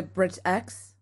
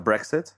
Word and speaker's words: Brexit: redoing things for the bridge x situation by what the brexit it's that right I said it wrong yes nice alright